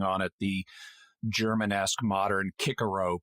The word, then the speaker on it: Cicero: I like that they pronounced her name Cicero, the classic English pronunciation of that Latin name, instead of forcing on it the Germanesque modern Cicero pronunciation.